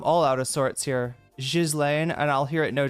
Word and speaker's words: Ghislaine: Jizlane is the official. Jizlane, uh, is how I, yeah, should be pronouncing it.